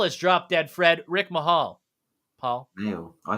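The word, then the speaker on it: Mayall: Rick Mahal. Paul? Male. I say male. Mahal? Rick Male. Mahal? In the UK, we say male.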